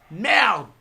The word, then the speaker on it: merde: And then one of the wives, against the 2 husbands going, just went, merde! And I thought, oh, that's how you say it. You hit the de.